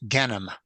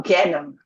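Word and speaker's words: גיהנום: Wellen alle sich broten in Gehenom? She asks. Everybody is going to burn in hell. And usually in Yiddish, that's pronounced Genom. Oh, Genom. Okay, Genom.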